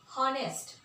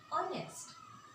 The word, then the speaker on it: honest: then we find that oh, the sound is vowel sound. Here we are not going to see honest. No, we are going to say honest.